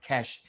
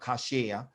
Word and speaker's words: cache: cash memory okay so that's pronounced cash it's not cashier it doesn't pronounce cache